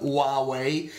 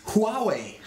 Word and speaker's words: Huawei: opposite thing another company the name starts with an H uh but is a silent h is Huawei from China and uh it's not Huawei because I've seen lots of comment no this is not a US company guys it's not Huawei it's Huawei but it's but it's